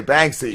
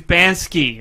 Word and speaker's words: Banksy: pronouncing it that way bangy yeah he was like it's not bangy it's bansky I'm like no it's Banky and he got he